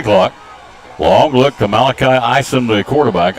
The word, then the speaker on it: Isom: Long look to Malachi Isom, the quarterback. I-S-O-M's how you spell it. Isom's how you say it.